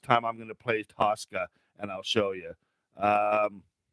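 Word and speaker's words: Tocka: band if you've ever heard of tosca it's pronounced tosca but it's t t-o-c-k-a and it's got uh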